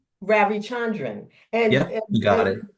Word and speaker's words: Ravichandran: It's Ravichandran. Ravichandran.